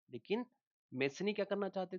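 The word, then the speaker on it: Mazzini: देखिए, इनको मेजनी भी बोलते हैं क्योंकि स्पेलिंग जो है वो इनकी कुछ ऐसी होती है, स्पेलिंग Mazzni।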